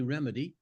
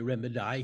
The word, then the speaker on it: remedy: out yeah I think remedy was probably pronounced mostly remedy but if he wanted to say remedi he could especially if it's by